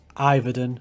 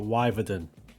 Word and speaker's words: Yverdon: Iverdon, not Wyverdon.